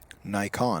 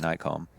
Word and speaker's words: Nikon: We're told to pronounce that like the camera brand. Nikon. All as one word. So Nikon.